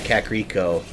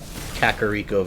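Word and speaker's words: Kakariko: The Kakaro, I always pronounced it Kakaro growing up, but in Breath of the Wild they actually say Kakaro Village, giving us an official pronunciation.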